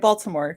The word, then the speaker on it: Baltimore: Or Balmer, however you say it. I'm not from here, so I say it Baltimore because I pronounce letters.